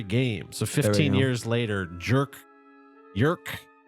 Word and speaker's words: Jerk: so 15 years later jerk jerk how do you pronounce j r k if it's a Scandinavian name I think we call him jerk jerk jerk Gustaf son is the